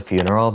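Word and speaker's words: Fvneral: Next is a song that I literally just discovered yesterday, but it's called Front Door by a band called Funeral, but it's spelled F V N E R A L.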